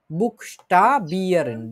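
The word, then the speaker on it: Buchstabieren: বুকস্টাবিয়ারেন, বুক, ঠিক আছে, বুক একটা শব্দ, তারপরে কি আছে, স্টা একটা শব্দ, মানে উচ্চারণের সময় এই অংশটুকু থাকবে, বুকস্টা, তারপরে বিয়ারেন।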